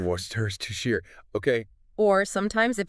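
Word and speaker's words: Worcestershire: But even natal speakers, we just say worershir. Worstershir.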